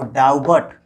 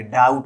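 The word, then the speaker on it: doubt: अगर बी के बाद टी आता है तो बी साइलेंट रहता है। जैसे देखिए यहाँ पर बी के बाद टी आया है तो इसको डाउबट, डाउबट नहीं बोलेंगे, डाउट बोलेंगे।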